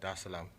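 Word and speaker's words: Dar es Salaam: straight to um tanzania da salaam did i pronounce that right yeah okay cool there is salam okay it's a beautiful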